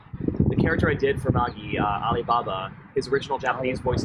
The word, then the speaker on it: Magi: And you also did voice acting for the cartoon Maggie, I believe? Magi, yes. Oh, it should be pronounced Magi. but- Magi. No, Okay. but, it's Magi in how we've done it, and yeah, that was